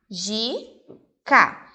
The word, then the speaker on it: mágica: fortes é a sílaba tônica a letra c mágica separo má mágica e eu tenho que pintar a sílaba mar a sílaba tônica sílaba é pronunciada